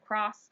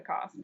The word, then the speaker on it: Coss: jeremy peltz band and everywhere we went the promoters mispronounced my last name i said cross and he said you have to write a tune called don't cross the cost and so i thought